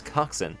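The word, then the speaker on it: coxswain: I know how to pronounce coxin.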